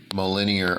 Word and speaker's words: Mjolnir: the capabilities of the linear armor or mjolnir armor as it's spelled then allow me to